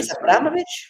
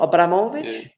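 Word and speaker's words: Abramovich: first one oh really abovich not Abramovic Abramovic okay that's more Russian I think with the the second version okay abovich like in Russian you would put the accent I think one of the last syllables by the way all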